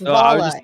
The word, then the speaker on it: Vola: So if you were to say the word, how would you pronounce the word volatility, Nick? Volatility. Okay. So it's Vola. It's Vola.